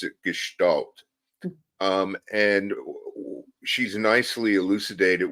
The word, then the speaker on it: gestalt: there's this school of thought in psychology I pronounce it gestal um and she's nicely elucidated what it is